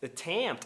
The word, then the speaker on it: attempt: Attempt. Attempt. Ou seja, você não fala adampica.